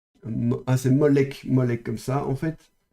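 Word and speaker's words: מֹלֶךְ: je ne sais plus où c'est dans la Bible, mais vous avez le roi Moloch. Et Moloch, donc ça s'écrit comme ceci.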